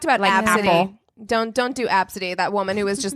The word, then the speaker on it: Abcde: Don't do Absidy. That woman who was just like, they made fun of my kid's name, and it was like Yeah. ABCDE, and she's like, it's pronounced Absidy, and I'm like, don't